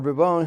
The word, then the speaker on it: Bourbon: with no air except Henry a bourbon who is or burbone who is the king